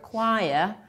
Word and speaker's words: choir: That's a tricky question because the word choir is usually mispronounced by most of the students. So CH here stands for K.